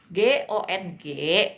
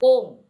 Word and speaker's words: gong: Nah, ini g O N G pingyinnya tidak boleh dibaca gong. Bukan gong ya. Bacanya bukan kayak gongso gitu, bukan ya teman-teman ya. Kung pakai Kung ya.